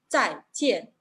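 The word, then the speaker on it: 再见: Lo que los hispanohablantes tienden de pronunciar, no solo hispanohablantes, ahí los que manejan idioma inglés también tienen que pronunciarlo a la manera de bye, la intonación ascendente, ¿verdad? Pero esta palabra se pronuncia en 2 sílabas, ambos en tono cuarto, descendente. Zai, tien.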